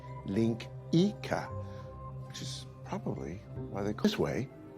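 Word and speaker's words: linguiça: laughs Portuguese national dish it's spelled linguica but it's pronounced link Ika probably I think this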